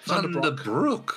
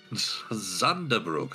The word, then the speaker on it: Zunderbrook: Thunderbrook. Okay, Thunderbrook. Zunder. Oh, Zunder. Zunder. You really need to work on your pronunciations if that's coming out as Thunderbrook. Zunderbrook, I see.